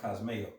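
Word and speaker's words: κοσμέω: when you go to that word trim, there's certain scriptures where that word in the Greek is pronounced cosmeo. Yes. You know, where you get like cosmetics from and everything.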